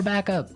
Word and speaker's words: backup: I think though it's important to point out that here the pronunciation and stress of this phrase is really important. Hey. Yes. Yes. You have to say backup.